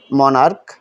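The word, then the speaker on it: monarch: plural করতে হয় যেমন মনার্ক সম্রাট এই সিএইচ এ উচ্চারণ ক এর মত হয়েছে মনার্ক সিএইচ উচ্চারণ আমাদের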